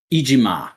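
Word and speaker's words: Iijima: One of the lead creative forces behind Ultraman and Ultra Q, Toshihiro Ijime, is how I'm going to say you pronounce that name. Toshihiro Ijima. Ijima, right.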